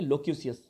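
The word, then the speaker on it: loquacious: Next word है लोक्यूसियस, इसका pronunciation आप ध्यान रखेंगे, लोक्यूसियस।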